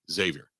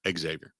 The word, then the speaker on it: Xavier: friends impress your friends say Xavier not Xavier I don't know why